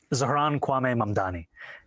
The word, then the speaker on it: Zohran Kwame Mamdani: Zohran Kwame Mamdani.